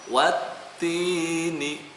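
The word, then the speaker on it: والتين: Watti, bukan walti, salah. Ya, dibacanya watti. Nah, di situ di atas taknya ada tasydid. Maka dibacanya wattini. Nah, hukumnya apa sekali lagi?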